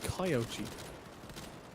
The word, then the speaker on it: Kyochi: Oh, Tobin has just messaged me to let me know it's a Kyochi. Kyochi. We've both been pronouncing it wrong.